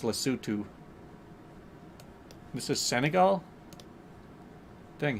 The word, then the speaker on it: Lesotho: I just want to call it Lesotho so bad. Because, I mean, that's how it's spelled, is Lesotho. But my cousin spent a bunch of time in South Africa and said that it's pronounced Lesotho.